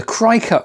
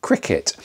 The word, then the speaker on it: Cricut: been calling it the crycut machine because that's how it's spelled c-r-i-c-u-t but apparently you pronounce it cricket so anyway i'm going